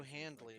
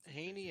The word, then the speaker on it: Haney: I won't call you Handley. It's just Haney and Hane.